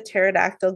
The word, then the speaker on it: pterodactyl: can't you hear the pterodactyle going to the bathroom because the p is silent yeah uh what would